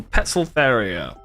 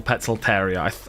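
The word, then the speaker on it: Poecilotheria: P stands for Petzolteria. Or Petzolteria. I think in Latin, when it's TH, you still just pronounce it as a T, right?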